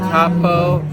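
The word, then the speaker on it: Taupo: So, now that we're done with the cave, we're back to Tapo. That's how you pronounce it.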